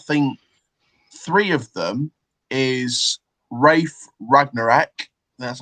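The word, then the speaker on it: Ralf Rangnick: I can't remember, but I think three of them is Rafe Ragnarek. That's how it's pronounced.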